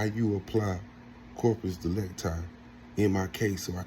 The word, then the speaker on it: corpus delicti: Corpus de lecti is how you say it.